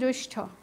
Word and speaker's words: জ্যৈষ্ঠ: উচ্চারণ যদি ভুল করো তুমি লিখবেও ভুল, তাহলে উচ্চারণ হচ্ছে জ্যৈষ্ঠ।